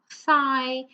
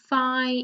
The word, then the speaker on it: thigh: So I'll just give you a few more seconds to tell me which letter is silent in each of the words, okay?